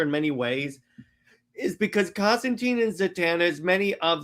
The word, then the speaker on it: Constantine: And a a Hellblazer if I remember that his name rhymes with fine, so it's Constantine.